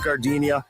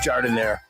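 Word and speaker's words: giardiniera: Don't call it Gardinia. It's pronounced jardinire.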